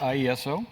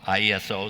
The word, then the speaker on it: IESO: ago you worked with do they pronounce it ieso or how do they pronounce that ieso ieso so the ontario's power system and you work